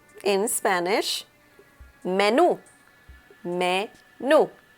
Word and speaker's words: menú: Menu is pronounced in Spanish menú. Menú. So the intonation is at the end of the word and it is pronounced menú.